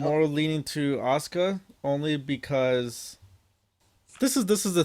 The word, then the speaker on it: Asuka: Um, Next match, Asuka or Asuka, depending on the pronunciation. Took If you're from Japan and want to say it right, it's Asuka.